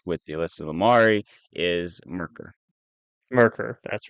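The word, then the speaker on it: Myrkr: quick with you so the way this thing is spelled right is not something my brain can handle it's m yr KR but as soon as I saw that I was like oh yeah because I've heard it before that's merker but uh I wouldn't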